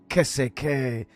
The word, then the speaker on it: qu'est-ce: Qu'est-ce.